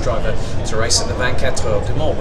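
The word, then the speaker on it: 24 Heures du Mans: to race at the 24 Heures de Mans, which is the correct pronunciation, whereas everyone just goes to 24 Hours of Le Mans, which to me, if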